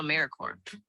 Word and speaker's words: AmeriCorps: AmeriCorps is alive and well, just spelled with a silent P. So think of Apple Core or core of the earth.